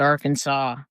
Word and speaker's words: Arkansas: Like Kansas and R Kansas aren't that far apart, but they call it Arkansas.